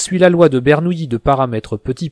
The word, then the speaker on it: Bernoulli: Bernoulli se prononce avec le son y, même s'il s'écrit O-U-L-L-I.